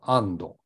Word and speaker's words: est: が面白いことにフランス語で「 EST って書くと同じく A って発音するんですよ ST っていうのは後ろのシーンですから発音しないわけですねだ